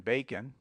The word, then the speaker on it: bacon: Drop the O in bacon.